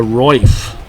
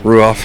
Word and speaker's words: Ruoff: I think it's the Roif Music Center. That's how you pronounce it? Oh, you said Ruoff? Ruoff, yeah. It must be Ruoff, you know. That's how it's spelled.